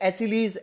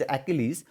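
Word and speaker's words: Achilles: वैसे आप इसे एसिलीज, एक्लीज कुछ भी बोल दो, लेकिन अगर प्रॉपर इसके प्रोनाउंसिएशन पे दैट इज एक्लीज।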